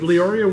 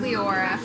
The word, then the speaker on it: Leeoria: And is it Leeoria, or is that? It's Leora. Leora. It looks like Leoria, but I don't know why.